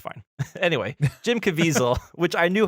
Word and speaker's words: Caviezel: My number 3 is a 2002 film, The Count of Monte Cristo, starring Ooh, Jim Caviezel. Help me out here. Caviezel.